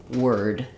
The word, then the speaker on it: word: um or board but in the word word letters o are just say the IR sound like in were so I like to think of it as the word were plus a D sound word so if you look